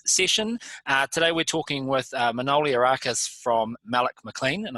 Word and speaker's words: Manoli: How are you going, Manoli? Yeah, I'm going well. Thanks, Johnny. Well done on the pronunciation.